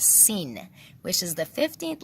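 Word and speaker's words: سین: If you're wondering what Hyacinth is, it's an arrangement of 7 symbolic items whose names start with the letter S, pronounced as sin, which is the 15th letter in the Persian alphabet.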